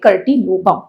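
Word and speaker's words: curtilobum: Next we have pentaploid species, a very favorite question, remember this, solanum कर्टिलोबम। Spelling में BI है, बाकी वो BUM होना चाहिए, कर्टिलोबम।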